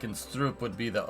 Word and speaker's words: stroop: In a Dutch shop, you'd get the right item pronounced like that.